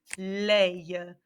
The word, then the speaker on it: les: going to be lei leia um might want to put another like little helpful thing to help you with the pronunciation lei yes it looks like lay in english so these are our